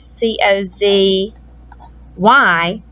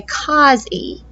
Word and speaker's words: cozy: the z not after because if we had divided it like this c o z y it would say something different than cozy it wouldn't say a long o sound it would make a short sound because that's a closed syllable it would say cos